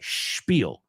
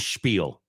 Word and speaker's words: spiel: Spiel rhymes with peel.